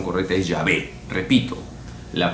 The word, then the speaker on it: Yahvé: adonay que significa señor y salió Jehová pero Jehová no es la pronunciación correcta la pronunciación correcta es llave repito la pronunciación correcta de yahvé que significa